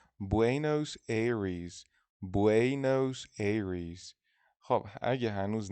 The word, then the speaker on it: Buenos Aires: نکته اینجا تلفظ بوئنوس آیرس توی اسپانیایی اینجوریه، ولی توی انگلیسی میشه بوئنوس ایریز.